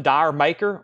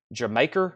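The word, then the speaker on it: D'yer Mak'er: Raised on Radio Don't Stop Believing lead Zeppelin dire maker or some people calls it jamaer or something like that I call it dire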